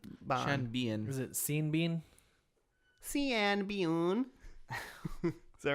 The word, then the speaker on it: Sean Bean: Yeah, Sean Bean. He's like, I've been dead the whole time, but it doesn't Is that how you matter. pronounce his name? Is it Sean Bon?